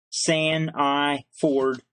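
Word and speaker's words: Sandiford: Now that's spelled S-H-A-U-N, Sean, and his last name is spelled S-A-N-D, as in sand, beach sand. I, the letter I, and the word Ford, San of Ford. It's all one word. San I Ford.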